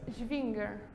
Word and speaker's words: Schwinger: This Schwinger. or if you pronounce it at the in the English way, Schwinger, I guess.